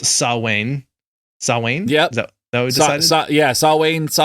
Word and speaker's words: Samhain: rule we have uh something that looks like it should be pronounced samhain but because it's gaelic it's pronounced sawwain sawwain yep that was